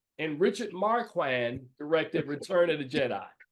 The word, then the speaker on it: Marquand: And Richard Marquand directed Return of the Jedi. Did I mispronounce the man's name?